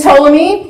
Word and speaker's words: Ptolemy: this and told me the P is silent so lose this and Ptolemy were two of Alexander